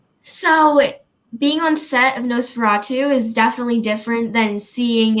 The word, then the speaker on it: NOS4A2: It's very Nosferatu. I'm gonna like dig back into Nosferatu after we finish talking.